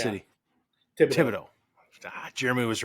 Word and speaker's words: Thibodaux: is it is it Fido how do you pronounce City TI Tibido Jeremy was right knew it um and then